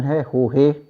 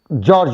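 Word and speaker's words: Jorge: एक कंपनी चलाता है जिसका प्रोनाउंसिएशन है होहे, लेकिन लिखा जाता है GORGE, गोर्गे, और कुछ लोग उसको जॉर्ज भी कह रहे हैं।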